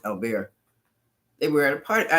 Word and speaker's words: Albert: Oh, Albert. Um they pronounce it Albear.